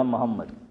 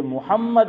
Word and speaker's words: محمد: محمد زبر میم پر یا پیش؟ پیش. لیکن آپ نے بولا محمد زبر، آپ نے جو تلفظ کیا حنیف بھائی، آپ نے محمد بولا ہے، تو یہ آپ نے صحیح بولا ہو لیکن آواز ایسی آ رہی. یہ محمد ہے میم پر پیش، لیکن ہم لوگ گجراتی لوگ کیا بولتے ہیں؟